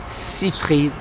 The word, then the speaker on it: Seyfried: su alsacien l'auris hybrid bien sûr mais ça se prononce à l'américaine thomas site read et vous entendrez parler